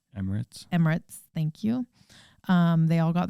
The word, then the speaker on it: Emirates: From the US, they flew them business class Emiratis. How do you say that? Emirates.